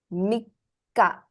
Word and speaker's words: Mikka: For third, it's Mikka. You stress the ka.